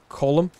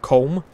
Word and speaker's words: Colm: nasty business oh also this game routinely mispronounces column as comb so i'm gonna be pronouncing it correctly because i'm pedantic in